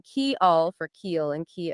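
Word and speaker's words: kial: understand it right but k i a l that would be Y in Esperanto is pronounced key Al and k i eel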